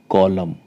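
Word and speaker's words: column: है हिंदी में पतझड़ एक और शब्द ले लेते हैं कॉलम कॉलम सी ओ एल यू एम एन तो उसकी स्पेलिंग है बट एम के बाद एन आएगा तो यहां पर एन है वो साइलेंट है उसको हम प्रोनाउंस नहीं करेंगे यह बनेगा कॉलम कॉलम मतलब पृष्ठ का भाग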